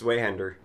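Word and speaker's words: Zweihänder: You're pronouncing Zweihander like bad. What, Zweihander? It's pronounced Zweihander. What? Who fucking cares? It's a sword! It's German.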